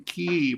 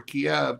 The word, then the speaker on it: Kyiv: Embassy in Kyiv or Kiev, depending on how you want to pronounce it.